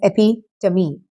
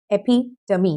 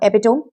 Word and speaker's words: epitome: It is pronounced as epitome. Epitome, not epitome, epitome.